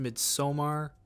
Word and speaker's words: Midsommar: Midsummer, I know it's pronounced Midsommar, but it doesn't roll off the tongue as nice for me.